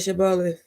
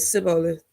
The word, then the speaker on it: Shibboleth: And he said, Shibboleth. And he said, Sibboleth, for he could not frame to pronounce it right.